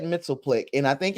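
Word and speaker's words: Mxyzptlk: And I know it's impossible for you to put this the pronunciation in the comments. But I've always said Mitzelplick, and I think it's because when I was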